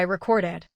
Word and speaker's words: recorded: As a verb, record ends with a d sound, so recorded takes the extra ID syllable. Say, she recorded the message. The stress stays on record while the final ID remains light. This tests both sound and rhythm.